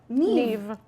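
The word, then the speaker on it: Niamh: It is spelled. N I A M H is is what? Ne.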